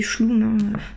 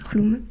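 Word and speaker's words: Chlum: tu de colomb donc avant moi je disais chou et puis en fait gergy chercher là j'ai cherché les la prononciation pour faire cette vidéo et voilà j'ai appris que ça se disait klum donc là on peut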